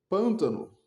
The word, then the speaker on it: pântano: Pântano, proporoxítono acentuada. Pântano. Se eu errar o acento aqui, perdoem-me, mas da última vez que eu estudei, pântano tinha acento. Pântano pr pararoxítona, uma sílaba, duas sílabas, três sílabas. Pântano. A sílaba tônica tá aqui.